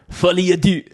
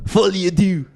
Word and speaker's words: Folie à deux: And we'll see how Folie à deux does. I don't know why I say it like that. Because it's French, man. Folie à deux.